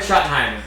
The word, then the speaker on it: Schottenheimer: Brian Schottenheimer.